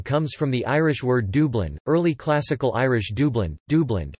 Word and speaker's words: Dubhlinn: As of 2018, Dublin was listed by the Globalization and World Cities